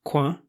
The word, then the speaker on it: coin: Well, in French, the word C-O-I-N, pronounced quoin, means corner literally, so that's interesting that coin with a Q-U in English is referring to that same thing in a way.